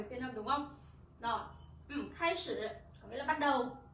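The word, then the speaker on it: 开始: Từ này chúng ta đọc là khai sử.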